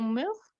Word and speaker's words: mûr: Et une chose ici très importante, mûr, on prononce de la même façon avec mûr.